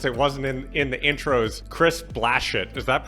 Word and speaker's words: Blachut: Well, one other thing I'll add, since it wasn't in the intros, Chris Blachut. Is that pronounced right? No, it's impossible though. It's Blachut. It's the worst. Blachut. Yeah. French? Polish. Polish.